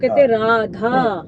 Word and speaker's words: राधा: प्यार की वजह से राधे बोल देते हैं, राधे, है ना। तो राधे नहीं होता, राधा होता है एक्चुअली।